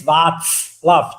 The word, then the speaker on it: Václav: You pronouncing my name constantly wrong, and I'm used to it. It's Václav. Just think of a pizza, and then you have it right.